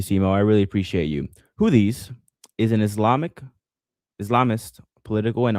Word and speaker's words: Houthis: Houthis. That's how you pronounce it. Houthis.